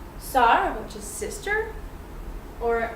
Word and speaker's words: sœur: Sœur, which is sister, or bœuf, which is beef.